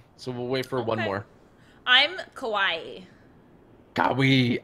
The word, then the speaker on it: Kawhi: Kawhi. Kawhi. That's how you pronounce it.